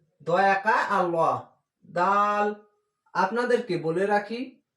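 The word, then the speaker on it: ر: উন্তস্ত জয়াকা আল্লাহ, জাল র, র উচ্চারণ হবে বাংলা র এর মতো, র, দাল জাল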